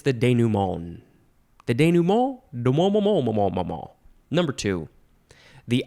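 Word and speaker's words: dénouement: next word it is I think you can emphasize that one instead denumon that's how I've heard it pronounced it is spelled D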